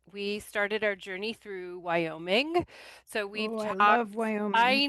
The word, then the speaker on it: Wyoming: It's happening in Wyoming. It's happening in Wyoming. I said Wyoming wrong. Wyoming. I added an extra syllable.